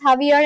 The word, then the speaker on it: Javier: Why is Javier pronounced as Javier in Spanish? Oh, okay. like oh yeah because uh in Spanish J is pronounced as H.